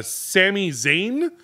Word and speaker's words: Sami Zayn: it was WrestleMania MH uh it was uh Sami Zayn my did I pronounce that right perfect cool uh I don't